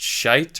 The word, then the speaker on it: Schiit: The one I went with is called the Magni 2 and the Modi 2, made by, I think it's pronounced Shite or Shit. It's SCHIIT.